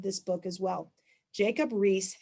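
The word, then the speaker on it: Riis: so it's r i i s but it's pronounced rhys and his book is called how the other half lives i would know the title of this book as well jacob reese how the other half lives so what does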